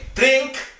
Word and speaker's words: drink: Drink, ini ada k-nya, ya. Yang ada k-nya.